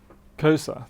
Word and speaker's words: Xhosa: Kosa, thank you.